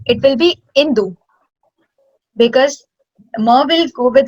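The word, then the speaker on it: इन्दु: So we'll not pronounce it as Mindu, it will be Indu, because Ma will go with the Sanskritam.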